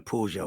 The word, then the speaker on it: Peugeot: Peugeot, yeah. No, it's not a hard G. It's a soft G.